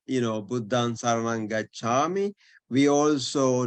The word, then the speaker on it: Buddha: yeah um so therefore you have to really pronounce the aspiration now this is called this is with the path of air extra additional puff of air Buddha not Buddha but Buddha Charming versus cha yeah um